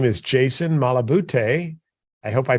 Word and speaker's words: Malabute: with us today and his name is Jason malaboute I hope I pronounced your last name correctly Jason you did